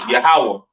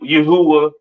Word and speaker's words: Yahawah: so on right so the lord's name is yahawah not y Yahweh or or not Yahweh all right yahawah to